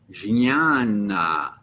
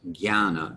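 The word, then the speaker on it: jñāna: j you might have expected that to be pronounced gianna as opposed to jana the pronunciation may vary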